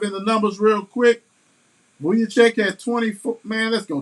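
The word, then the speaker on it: Vučević: Vucevic. So Vucevic had 24 and 17.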